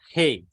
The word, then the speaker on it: He: Next alphabet is Hey.